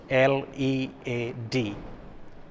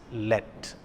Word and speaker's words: lead: look at that word l-e-a-d the word has got two pronunciations it can be read as lead or it can also be read as let yes so if someone